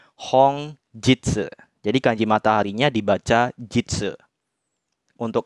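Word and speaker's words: 本日: bacanya bukan Nik ya untuk kancing mataharinya tapi dibacanya Hong Jitsu jadi kanji mataharinya dibaca untuk artinya hongjitsu bisa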